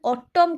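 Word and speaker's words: autumn: ऑटम एटा को हमें ऑटम मान तो कहूने ऑटम कहूचे तो ये आपणकर एन टा आपणकर साइलेंट अच्छी बुझ पाछंती ए तो आपणकर अच्छी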